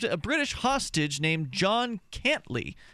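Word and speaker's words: Cantlie: British hostage named John cantly now it's spelled can't uh cin TL IE which sounds like can't lie interestingly enough interesting man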